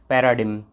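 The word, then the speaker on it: paradigm: Next हम देख लेते हैं पैराडिम। दोस्तों, पैराडिम, यहाँ जी साइलेंट रहेगा।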